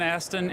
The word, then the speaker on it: Astin: And we got Sean Astin. I pronounced your name right?